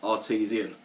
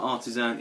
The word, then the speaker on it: Artesian: of their beers and he also called it artisian which is the correct pronunciation it's not Artisan it's artisian plain cap quite interesting one as